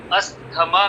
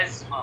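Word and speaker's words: asthma: में इसे कहते हैं अस्थमा कहते हैं, बट इसका जो सही लफ्ज है एस्मा, प्रोनाउंसिएशन है एस्मा, एस्मा, एस्मा, अस्थमा नहीं है।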